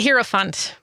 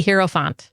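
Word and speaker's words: hierophant: pulled a card for us today it's the hero Fant the hero font h i e r o p h n t hero Fant you laughing about the word herant we didn't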